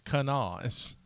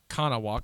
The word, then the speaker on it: Kanawha: say how can i how the locals say kanawha like no right it's kanaz it looks like kanawa because it's an indian word but you know how